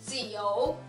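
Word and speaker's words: 九: 네, 숫자 9는 지오, 지오 삼성입니다.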